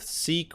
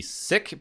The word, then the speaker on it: Sikh: ways to pronounce this I am going with Sikh which apparently is an accepted pronunciation the other way would be sick but I'm if I